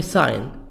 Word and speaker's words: sign: subway stop subway stop subway sign G silent subway sign traffic light